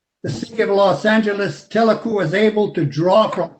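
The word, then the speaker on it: TELACU: Telecu is spelled T-E-L-A-C-U, if you want to look it up.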